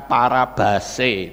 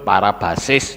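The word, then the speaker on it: παράβασις: menuju ke sasaran sementara kalau yang ini bacanya para base ya paraabase itu bacanya tapi ada yang menyebut parabasis juga enggak apa-apa itu tetap tetap sama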